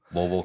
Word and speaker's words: Louisville: Louisville, Kentucky.